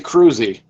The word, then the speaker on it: Kroese: that prior to this it's actually cruzi cruzi okay well I'm glad I asked that on the air here and I apologize for that cruzi so no worries all